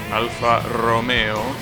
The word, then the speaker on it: Alfa Romeo: Alfa Romeo is pronounced as Romeo because it's an Italian word. The same way you pronounce it in Spanish, basically. Alfa Romeo.